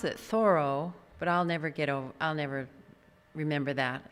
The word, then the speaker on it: Thoreau: watching the Ken Burns thing on Henry David Thoreau, they pronounce it Thoreau, but I'll never remember that.